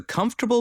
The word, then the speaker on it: comfortable: Each bubble has a comfortable bed. Pronunciation. Comfortable. Comfortable. Please don't say comfortable. It's not comfortable. It is comfortable.